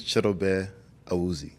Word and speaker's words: Chidobe Awuzie: name is chto I if you want to say it in the in the English language is chto azi in my language is a a Accent on the first syllable of the last name yeah okay how many